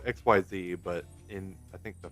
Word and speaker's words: Xyz: Spelled X Y Z, but in I think the first um instruction booklet, they had a pronunciation guide. It was like I K S E E Z. Like Xyz.